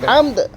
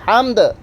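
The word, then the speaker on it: حَمْد: কেউ করবে না, লাকাল হামদ, হা হা, এটা হায়ে হত্তি, হায়ে হাওয়াজ না, হা না, হা কি পড়বেন, রব্বানা লাকাল হামদ, হামদ দেখছেন অল্পের সময় দালও উচ্চারণ হতে, হামদ।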